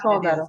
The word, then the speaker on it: Sodaro: In So- Sicily, Sodaro.